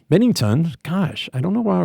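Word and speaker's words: Binnington: Louis, Jordan Benningham. Bennington. Gosh, I don't know why I always want to say his name wrong.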